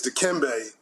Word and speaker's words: Dikembe: You mispronounced his middle name. It's Dikembe, love his family and community, Mutombo.